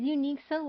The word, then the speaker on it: unqSoleil: But my name is Unique Sole. That's my full name pronounced unique Sole.